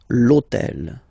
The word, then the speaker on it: hôtel: this hôtel, okay, because it starts with H, but remember that in French we don't pronounce H. Okay, so basically the first sound of the word is the vowel O.